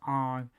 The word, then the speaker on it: Aang: some of the pronunciation instead of aang it's on instead of iro it's ero soka is or instead of